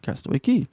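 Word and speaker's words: Castaway Cay: day five what was castaway key even though it's spelled ke CA why everybody there there everybody there pronounced it as key so we called it castaway key yeah so we were able to go ashore at 8:30 a.m.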